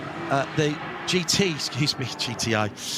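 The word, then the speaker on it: Giti: the GT excuse me GT reading it literally gii TI is the name of the Tha company and it's pronounced GT g g uh tire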